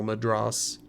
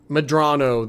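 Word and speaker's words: Medrano: It's General Madras. Madrano? Madrano, thank you.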